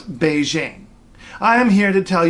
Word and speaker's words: Beijing: no no no no the capital of China has never been peeking and it has never been Beijing okay we've been saying at first at speaking and then as Beijing but those are both attempts at representing one and the same word Beijing got that Beijing okay